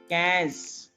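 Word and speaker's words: quinze: IN is a, so that's why I'm saying 15. E is silent. 15.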